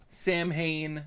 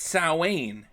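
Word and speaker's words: Samhain: Everyone was calling it Sam Hayne. No one knows the correct Gaelic pronunciation. It's It's Sain. I know. I know it is. Everyone's saying Sam Hayne. They're just reading it phonetically.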